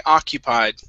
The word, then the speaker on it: occupied: The stress is at the very beginning.